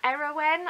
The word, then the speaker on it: Eirawen: will correct me but it's era era when I think is how it's pronounced it's e ir a